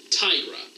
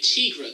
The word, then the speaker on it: Tigra: Tigra. Tigra! Oh, yeah. Why are you pronouncing it Tigra? There's no two G's. You don't do a Tigger like that. It's, the I is pronounced like a double E.